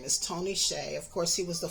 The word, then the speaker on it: Hsieh: But the correct pronunciation of Tony's last name is Tony Hsieh.